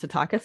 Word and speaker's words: Tatakis: So Tatakis is my almost going to be old married name, getting there, but it's pronounced Tatakis. It's a Greek name.